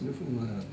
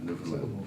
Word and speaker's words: Newfoundland: How do you pronounce Newfoundland? Newfoundland. Newfoundland. You're not supposed to accent any one of the three. No, Newfoundland.